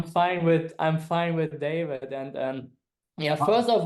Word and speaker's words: Dawid: it's I think I'm I come originally from Poland and never figure out the V so it's a w it's the same as David so oh okay I'm